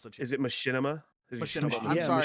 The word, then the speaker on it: Machinima: Machina, Binding of Isaac, Super Meat Boy era of YouTube that will always hold a special place. That's what she. Is it Machinima? Machinima. I'm Yeah, sorry, Machinima.